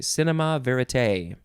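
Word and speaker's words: cinéma vérité: cinema verite two words cinema is cinema and then the next word is v-e-r-i-t-e with an accent on the last e that goes down on the left side and up on the right side cinema i guess with the accent you have to say cinema verite you could also just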